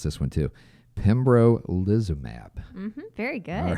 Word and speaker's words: pembrolizumab: The other, I'm going to try to pronounce this one too. Pembrolizumab.